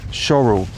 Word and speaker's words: Shorwell: you it's pronounced shl it's spelled shorwell but it definitely is shorl and as we walk